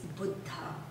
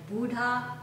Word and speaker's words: Buddha: pronunciation and our word of the day is futa I often noticed that buta is not pronounced correctly and it's often said like Buddha or Buddha and that pronunciation in Indian language